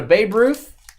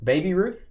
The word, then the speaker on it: Baby Ruth: uh Phil's having a Babe Ruth oh you got to say it right Baby Ruth Baby Ruth he said